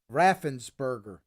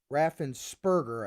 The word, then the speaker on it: Raffensperger: secretary of state brad raffensberger raffensperger i guess that's how you say his name make it give i